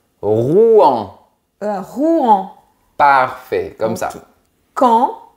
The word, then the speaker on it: Rouen: Et la troisième, Rouen. Presque. Il faut bien séparer les syllabes. Rouen.